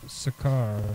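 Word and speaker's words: Sokar: Old Kingdom he quickly absorbs the appearance of sakar and tetan sakar spelled s o k a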